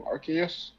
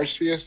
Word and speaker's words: Arceus: Like they piggybacked off of some elements from Arceus or Arceus, depending on how you say it.